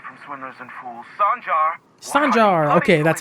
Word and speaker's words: Sanjar: Sanjar! Okay, that's how you pronounce it.